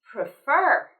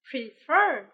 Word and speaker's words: prefer: the first thing is with the word prefer we need to stress the second syllable prefer prefer prefer prefer exactly and